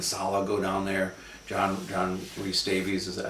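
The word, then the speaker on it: John Rhys-Davies: John John Reese Davies, is that how you say it?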